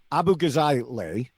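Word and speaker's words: Abughazaleh: And I believe the pron full pronunciation of her name is Abu Gazale. I may have messed that up.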